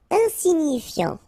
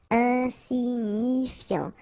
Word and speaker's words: insignifiant: Insignifiant. Okay, final T not pronounced, so you've got this IAN, yan, so F before, fiant, insigni, okay, remember, GNI, ni, ni, insignifiant, insignifiant.